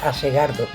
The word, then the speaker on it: Asgard: Since, according to the Japanese, the word would be pronounced "Asegardo". I don't know why the Japanese have this habit of adding vowels where there aren't any.